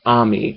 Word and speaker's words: Amy: There's Amy, or the show pronounces it as Ami, but I pronounce it with the A.